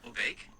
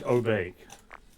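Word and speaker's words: お化け: Obake? Obake? Yeah, that's saying Obake.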